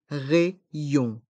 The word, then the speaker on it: rayon: le rayon le rayon dans le mot rayon on prononce le y deux fois les lettres a et y font le son e pour r et les lettres y o n font le son yon rayon le rayon un article